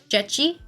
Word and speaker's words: dzieci: That's how I remember being told how to pronunciate it, but I don't know how accurate my pronunciation is. Hey Google, can you say kids in Polish? Dzieci?